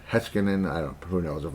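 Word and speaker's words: Heiskanen: Hiskinan. Heskinan. I don't who knows if I'm pronouncing it correctly. I know. I'm No, I Yeah, it is. Heskinan.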